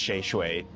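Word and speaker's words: chez: Sheay means house of in in French. Uh so it's pronounced shue.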